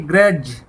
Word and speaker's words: grudge: आगे देखिए ग्रज, GRUDGE, ग्रज, यहाँ भी डी साइलेंट।